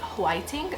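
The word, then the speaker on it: 화이팅: conglocified is fighting but in korean they pronounce it whiting like it's literally even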